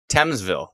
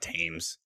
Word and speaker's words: Thamesville: i did it again thamesville thamesville not tames yes t-h-a-m-e-s otherwise pronounced teams oh no thames why